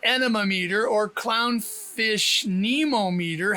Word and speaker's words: anemometer: The emphasis is on the first syllable of Mama, so it's anemometer.